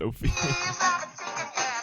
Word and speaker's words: Ophelia: You said it right the first time. It's Ophelia.